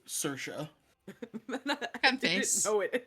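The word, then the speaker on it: Saoirse: I read it first, and I was like, Saorise? Yeah, Like, somehow it fuck is spells this? Sersha.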